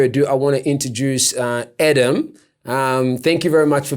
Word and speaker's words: Edem: Edem, yeah. Okay. I guess it reads as Edem, but it's pronounced Edem, yeah.